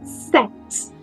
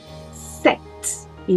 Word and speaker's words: sept: Não se diz sept. SP não é pronunciado. Então eu só digo set. Set. E não sete.